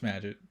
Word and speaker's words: Smadget: Yeah, and also it's pronounced Smadget, so just in case you were wondering, because people do wonder, it is pronounced Smadget.